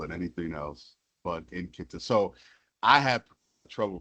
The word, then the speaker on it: Nkita: And the I was told say just how it's written the N and the kit. So init.